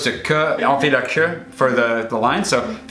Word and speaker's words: queue: Say for say on fait la file to say, because if you say on fait la queue and you say it wrong, like on fait la cul, you'd say like we're making ass.